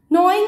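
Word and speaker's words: gnawing: नॉइंग animals, the जी is silent here, rabbit, squirrel, rat, जिनकी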